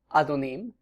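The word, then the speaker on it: אֲדֹנִים: The first word in the upper right is pronounced Adon, or the plural, Adonim, and it means Lord or Master, masculine noun.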